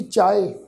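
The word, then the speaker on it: ਚਾਹਿ: ये जड़ा शब्द है चचे नू कन्ना, फिर है जी यहिया अखर लगा हुआ है। इस शब्द का पाठ उच्चारण करांगे जी चाहे। इस शब्द का पाठ है चचे नू कन्ना, ईड़ी नू सिहारी की मात्रा लगा के पाठ उच्चारण होएगा चाहे।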